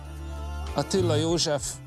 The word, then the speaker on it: Attila József: Attila József, it's pronounced actually.